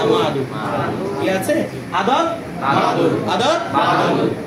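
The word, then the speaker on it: معدود: এটাকে মাদুদ এভাবে বলতে হবে না, মাদুদ।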